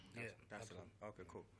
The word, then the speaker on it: Dar es Salaam: Did I pronounce that right? Yeah. Dar es Salaam. Okay, cool. Dar es Salaam.